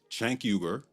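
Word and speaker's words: Cenk: Chanker, that's how the founder of TYT, Chanker, pronounces his name, by the way, and the self-labeled politically homeless Anakasparian.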